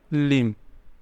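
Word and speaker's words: limb: के लिए आ जाएगा लिम लिम बी यहां पर साइलेंट रहेगा बी की आवाज नहीं आएगी बी को नहीं बोलेंगे लिम देयर इज पेन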